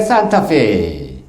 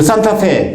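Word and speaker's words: Santa Fe: 그 산타페. 여러분 자동차 있죠? 여기 저도 이제 산타페 했는데 거기 아니라 산타페이라 그러더라고요. 여기 멕시코 발음은 산타페예요.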